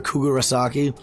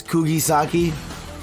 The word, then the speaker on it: Kugisaki: know every single reaction, I called her Kugurasaki. I know now her name is Kugisaki. I'm pretty sure that's how you pronounce it, Kugisaki.